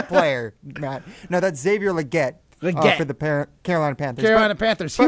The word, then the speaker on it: Legette: And then there was Xavier Legit. Legit, dude. Too legit How to do you quit.